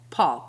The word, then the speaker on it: Pol: Paul, but it's spelled Pol.